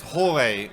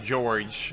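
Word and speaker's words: Jorge: pronounced Hore for George. I think so as well. It's not George like American.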